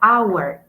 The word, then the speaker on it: hour: Por ejemplo, la palabra hour, hora. Our es eh un sonido vocálico porque yo no pronuncio la h, es invisible, entonces suena como si fuera una o una a.